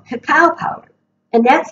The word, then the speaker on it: cacao: But the alternative is called cacao powder, and that's spelled C-A-C-A-O.